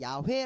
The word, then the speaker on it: 야훼: 천주교에서는 이 단어를 야외로 바꿨어요 그래서 이 정확한 발음은 야외 웬 데이 이아 회 라는 것을 야외 1006 있는 야훼 라고 이야기를 해요 실제로 편의 거구요 근데 우리는